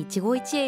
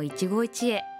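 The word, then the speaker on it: 一期一会: は果物のいちごと同じ発音です。私たちの出会いってまさに一期一会よね。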